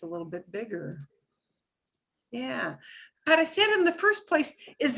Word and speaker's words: parecer: The original verb is parecer. It's got a S sound in it, right?